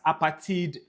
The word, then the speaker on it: apartheid: South Africans pronounce it as apartheid because the word apartheid is an African word for apartness.